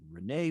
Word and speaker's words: Rena: is renee winters and renee is spelled r-e-n-a so it's it looks like arena but it's with the long a renee winters and it's arizona